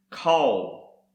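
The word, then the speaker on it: קול: Another word is pronounced kol, and this is the voice, sound and noise, and also thunder.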